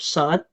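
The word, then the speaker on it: ص: Huruf sod cara nyebutnya dari beberapa pengajar yang saya pelajari, penyebutan huruf sod itu bukan monyong, bukan ihdinas, bukan seperti itu cara nyebutinya, tapi sod seperti itu ya. Ihdinas sod, bukan sod monyong, intinya bukan monyong, tapi penyebutan huruf sod itu lidah itu ke gigi bagian dalam, ke gigi bagian dalam.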